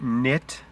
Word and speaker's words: knit: And then you have knit, knot, with a silent K, link, gnarled, gnaw, gnash, accounting for the odd spelling.